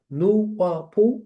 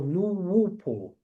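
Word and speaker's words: Nuwaupu: It's pronounced Nuwapu or Nuwupu.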